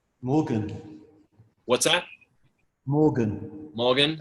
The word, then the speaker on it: Morgan: Morgan. What's that? Morgan. Morgan? As in M-O-R-G-A, and the same as Morgan.